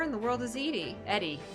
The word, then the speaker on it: Edie: Eddie. I keep saying Edie. I think she pronounces it Eddie.